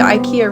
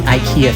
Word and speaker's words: IKEA: Most of us English speakers say it the way the letters look. IKEA. But IKEA is actually a Swedish brand, and so they actually pronounce it more like IKEA.